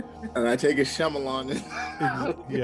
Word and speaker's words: Shyamalan: A lot of might shaman or whatever. However you say his name, butchered it. Like Shamalan.